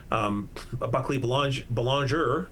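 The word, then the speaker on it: Buckley Belanger: And then we have Buckley Boulanger, as we should be pronouncing the name properly.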